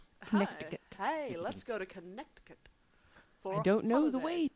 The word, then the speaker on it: Connecticut: I was pronouncing it. I was enunciating it irritatingly. Mm-hmm. Connecticut.